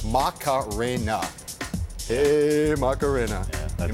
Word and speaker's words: Macarena: One word, four syllables, Macarena.